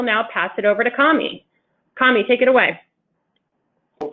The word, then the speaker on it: Kamy: today my name is commie and it's pronounced like Tommy it's my real name